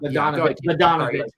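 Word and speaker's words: Bogdanović: Um Badonovich. Okay. See, it's that G that threw me off. If there was no G, I would have said Bodon. It's all the silent letters that throw me off.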